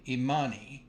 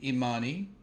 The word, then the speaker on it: Imani: with the day seven uh principal which named immani um immani can be named on some of our um sisters it is spelled i m a n i and in